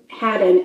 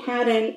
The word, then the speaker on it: Haddon: Last name, Haddon. It could be Hayden. It's Hayden. But how do anyway, you spell it? H-A-D-D-O-N. Okay, well, it sounds like to me Haddon. Yeah. And if it's not, then they should have spelled it a different way.